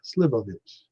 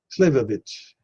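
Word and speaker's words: slivovitz: Oh, I thought it was S-I-L. It's S-L-I. Slivovich. It's a brandy, yeah, plum brandy. Let's see if I can get it pronounced. Slivovich. Slivovich. Okay, that's close.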